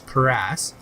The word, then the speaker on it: cuirass: I'm going to see which leather cuirass, that's the correct way to pronounce that word, is cuirass, is best.